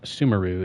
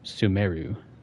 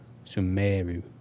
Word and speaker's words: Sumeru: So apparently it's not pronounced Sumeru, it's pronounced Sumeru. Sumeru. A long E. Long E.